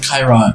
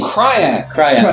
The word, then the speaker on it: Krayt: same time that Darth Kyra, or I'm saying it wrong. It's KRYTT. It's weird. Yes, like Krayt.